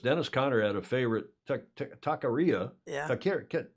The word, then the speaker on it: taqueria: Dennis Conner had a favorite taqueria.